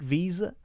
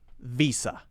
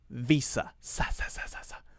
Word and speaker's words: Visa: Visa do you take Visa that is not how you're supposed to say it it's supposed to be pronounced Visa Visa which is an unvoiced s sound Visa Visa Visa okay